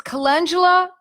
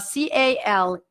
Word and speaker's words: calendula: Latin name is calendula, C-A-L-E-N-D-U-L-A, calendula. People mispronounce it. They say calendula, but you have to think like the way in Italian it pronounces. Calendula.